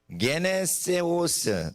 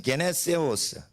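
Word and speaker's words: γενέσεως: 게네세오스. 따라하세요. 게네세오스. 이게 Y자 비슷한 게요. G자 발음이에요. 감마거든요.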